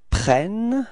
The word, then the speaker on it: prennent: Okay, so you can notice that the first E of prennent is pronounced like E, E. And the reason for that is that you've got a double N after that, so it changes the pronunciation of the E.